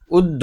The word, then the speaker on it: উদ্ধব: ও শুনতেই চাইছে না উদ্ভব বলছে ও উদ্ধব হ্যাঁ উদ্ভব বলছে উদ্ধব এটাকে এটা এরকম ভাবে উচ্চারণ না করে তুমি এরকম ভেঙ্গে ভেঙ্গে করো উদ্ধব হস উদ উদ্ধ বধব উদ্ধব আচ্ছা বলতো পিশিটার নাম